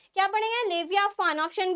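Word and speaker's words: Leviathan: हैं ठीक है ना ये टीएम हमारा साइलेंट है इसको हम लोग फा पढ़ते हैं लेविया फान पढ़ते हैं एंड ऑप्शन सी हमारा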